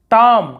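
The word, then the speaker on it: tomb: टॉम, टॉम यानी होता है मकबरा, उसे हम टॉम कहते हैं, टॉम नहीं बोलेंगे, ठीक है।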